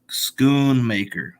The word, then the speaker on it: Schoonmaker: name of Luke's uh pronounced last name is Schoonmaker schoon maker I guess um I